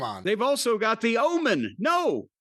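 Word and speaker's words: Ohman: They've also got the omen. No. O H M A N. It's pronounced Omen.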